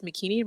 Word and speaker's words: Makini: And even when I introduce myself, I say it's Makini, rhymes with bikini.